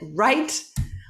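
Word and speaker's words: write: design talk listen walk wr remember the w doesn't uh doesn't sound it's silent you said all my life i've said right okay you can relax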